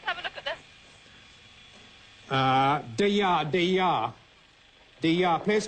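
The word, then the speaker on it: Deià: Deya.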